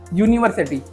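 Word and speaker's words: university: my brother studies in अब देखो आप यूनिवर्सिटी इन दिल्ली अब देखो इसमें किसका साउंड आ रहा है देखो य का साउंड आ रहा है देखो आप य यूनिवर्सिटी तो इसमें क्या आएगा ए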